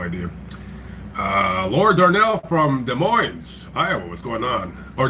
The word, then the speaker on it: Des Moines: Uh Lord Darnell from Des Moines, Iowa. What's going on? Or Des Moines? I'm sorry. I know people are like, "You don't pronounce the S."